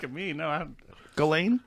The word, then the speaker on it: Ghislaine: It's Ghislaine. Do you know? Oh, look at me. No, I don't. Ghislaine?